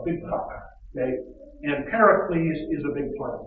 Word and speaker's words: Pericles: at the beginning uh pericles that's how you pronounce his name here please and he's